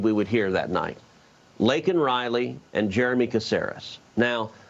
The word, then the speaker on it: Laken: Now, he got Laken Riley's name wrong. He called her Lincoln Riley, who's, of course, a